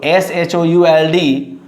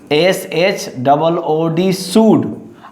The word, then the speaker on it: should: So SHOULD, not should. It is read as, that means should. SHOOD should, and here is COOD could. Okay, so shall, should, you know very well, these are modal verbs, and would, WOOD would. So exact pronunciation of these words are should, could and would.